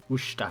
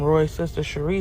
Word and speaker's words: Worcestershire: American trying to pronounce Worcestershire Sauce leaves Brits in hysteria. Worcestershire Sauce. Some Worcestershire Sauce.